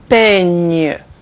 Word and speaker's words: peigne: Gne. Gne. G and gne. An example in French, peigne. Peigne, which means comb, like igname.